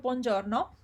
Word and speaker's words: buongiorno: We saw the word buongiorno, and I said that the j sound here is j, it's not je, it's j. So it's giorno, not giorno.